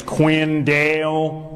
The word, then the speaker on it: Quinn Dale: My wife's first language is Spanish, so she still has trouble pronouncing my name. Like my name is Quinn Dale, but she pronounces it pincho.